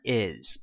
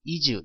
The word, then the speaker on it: is: 자 m is 보세요 요거 발음 이즈 이즈 이렇게 사람들이 많이 발음을 하는데요 is라고 어 발음을 하시면 더 좋겠습니다이 이렇게 너무 한국적인 발음으로 하지 마시고 IS IS IS 이렇게 발음을 하시면 되겠습니다 자 그러면 좀 더 좀